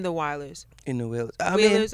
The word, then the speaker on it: Wailers: Wailers, I'm saying it wrong. Wailers.